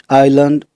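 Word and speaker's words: island: कुछ वर्ड्स में S silent रहता है। जैसे आइलैंड, आयल, आइल।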